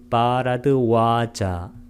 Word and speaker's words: 바라드와자: 두 번째 발음문은 바라드와자, 빨리어로는 바라드와자, 마하고 와를 장음으로 발음하는 것, 그것만 차이가 납니다.